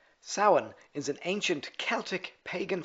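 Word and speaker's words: Samhain: Sin.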